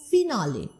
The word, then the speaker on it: finale: So in French, you pronounce it as a long I, finale. Alright. And when you adopt that word into English, you pronounce it as final.